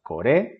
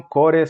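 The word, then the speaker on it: これ: De nuevo, los demostrativos se acentúan en la segunda sílaba. Coré, sore. Y el tercero es haré. ¿Ok? No son core, sore, are. Son coré, sore, haré.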